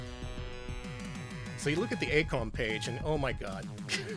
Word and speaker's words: AiCOM: At the top, you'll notice it was founded by former AiCOM employees. And before you roast me, that is the correct way to pronounce it.